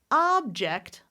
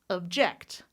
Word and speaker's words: object: When I change the stress to that second syllable, I'm going to reduce the vowel to object, object.